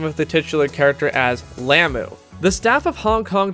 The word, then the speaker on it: Lum: Lum, or should I say Lamu, is voiced by Claudia Thompson.